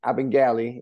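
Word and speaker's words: Abagnale: And it was from Italian immigrants, and we would pronounce it Abengali in Italian.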